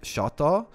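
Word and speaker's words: شطة: The hot sauce in Arabic is pronounced shata.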